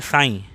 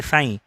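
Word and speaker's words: ψ: ये जो सिंबल है उसको बोलते हैं साइन, प्रोनाउंसिएशन होता है साइन।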